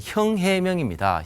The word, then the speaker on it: 싱하이밍: 예상하기 좀 힘들고 지금 싱하이밍 그 대사를 보면 저도 좀 아는데 그 한자가 우리나라 발음으로는 형 해명입니다 형 해명인데 형 해명대사는 좀 독특한